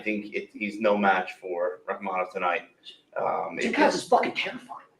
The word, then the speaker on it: Rakhmonov: Do you want to take a Rakhmonov. Rakhmonov. That's how you pronounce it?